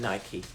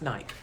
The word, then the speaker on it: Nike: moment i'm in nike i don't go in nike i thought it was always pronounced nike i've learned that it's called nike and i'm